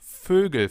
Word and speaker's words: Vögel: Try to pronounce an O, so the German version of an O, and then round your lips. Ö, Ö. And you get Ö.